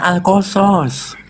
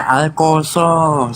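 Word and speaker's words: القصص: ada ayat alqaso kosos enggak ada huruf o itu dalam bahasa Arab ya Tapi bacanya alqasos Mana ada Iya itu tulisannya alqasas tapi dibaca alqosos tapi a Saya dengar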